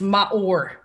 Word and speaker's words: Maor: So Howie, give us a little bit backstory on Maor. And I butchered it. I think I butchered it. It's Maor. Maor.